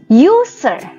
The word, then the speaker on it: user: Nah Ibu kasih contoh user kata user diawali oleh bunyi you you you Ayo Bunyi apa